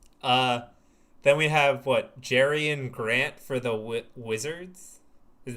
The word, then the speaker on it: Jerian Grant: Uh then we have what Jerian Grant for the Wii Wizards.